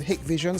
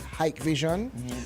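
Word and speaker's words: Hikvision: the hick Vision brand people pronounce it hick Vision some pronounce it hike Vision so what you know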